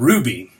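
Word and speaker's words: RWBY: have it on things like Netflix it's called Ruby then it's spelled RR waby and it's a American anime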